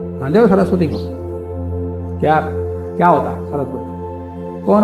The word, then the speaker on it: सरस्वती: उसका अर्थ नहीं निकलता सरस्वती को सरसवती कहोगे तोता सरस्वती बोलना चाहिए पर अभ्यास हो गया सरस्वती रस का रा इधर बोलते हैं सा उधर बोलते तो फिर अर्थ नहीं